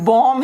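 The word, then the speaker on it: bomb: ये क्या है? ये केवल बॉम्ब है, इसका कोई साउंड नहीं है।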